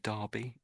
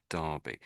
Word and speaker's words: Derby: Just say Derby. Derby. Yeah. Derby. So in my mind I tend to think as if that's an A.